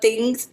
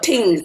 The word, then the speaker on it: tings: The producer, Ben Obi, he'd be like, love things, things. I'm like, no, tings. It's tings, tings.